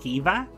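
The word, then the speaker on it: Caoimhe: So see if you can pronounce that, and if you can't, this is Kiva.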